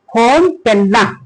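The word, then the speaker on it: Phnom Penh: फॉर्म और ये पेन जो है तो हम लोग पढ़ते हैं क्या चीज? फॉर्म पेना जो है तो जो फॉर्म पेना है कंबोडिया की कैपिटल है।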